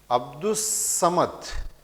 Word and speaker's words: عبدالصمد: پوئے، زوئے، لام، نون۔ جب کسی لفظ پر الف لام لگایا جائے اور وہ الف لام نہیں پڑھا جائے تو حرف شمسی کہلاتا ہے۔ جیسے عبدالصمد، اس کا تلفظ اس طرح ادا کیا جائے گا، عبدالصمد، اور لام کی آواز ساکت ہوگی۔ وہ حرف شمسی جو